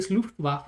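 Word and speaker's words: Luftwaffe: Also, please pronounce it correctly. Luftwaf, not it hurts me.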